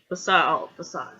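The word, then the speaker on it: façade: the perfect Christian guy, facade. C is silent, French Dakar. You see that little sign at the bottom of the C.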